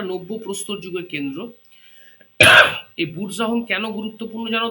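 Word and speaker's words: Burzahom: তোমার মেহেরগাড় ছাড়া একটা কেন্দ্র ছিল সেটা হচ্ছে বুরজাহোম বানানটা হচ্ছে বি ইউ আর জেড এ এইচ ও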